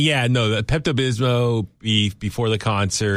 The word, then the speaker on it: Pepto-Bismol: There's an L at the end.